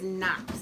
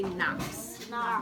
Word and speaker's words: knocks: That word is knocks. Everybody say knocks. Okay, so it starts with the K-N together, says a N sound. So the K is silent, so that word is knocks, okay?